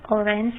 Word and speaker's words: orange: In the word orange, the stress is on the first syllable.